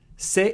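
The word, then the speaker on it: せ: Se is pronounced like se in cell.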